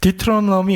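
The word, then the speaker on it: Deuteronomy: 영어로는 신명기를 디트로미 이렇게 발음을 하는데이 말은 여러분 두 개의 남말이 합성어예요.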